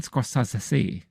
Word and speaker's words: Scorsese: Martin Scorsesi. I think that's how you pronounce it in Italy.